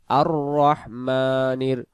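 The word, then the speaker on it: الرَّحْمٰنِ: রহ জবর রহ আর রহ আমরা যদি পড়ি আর রহমানির রাহিম আর রাহমানির রাহিম আর রাহমানির পড়লে এখানে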